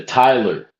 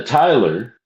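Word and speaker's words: Tyler: earlier in the pages, I referred to the tiler. The tiler is T-Y-L-E-R. Okay. Master to junior deacon. Attend to that part of your duty and inform the tiler that we are about to close this lodge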